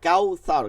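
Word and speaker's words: كوثر: আর কাউ সার। Calf wow জবর কাউ। টোনে টান দেওয়া যাবে না। লিনের হরফ। সর জবর সাও। সর জবর সার এখানে এটা জজম হয়ে যাবে কাউসার কাউসার উচ্চারণ আগা সামনের দুই দাতের আগার সঙ্গে লাগায়া এটা হালকা মধ্যখানে তনা হবে ঠিক আছে না এরপরে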